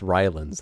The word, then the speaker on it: Rylan: yeah yeah like that also it's Rylands that's how it's pronounced when the green moon